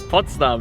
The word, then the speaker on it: Potsdam: Potsdam, that's correct.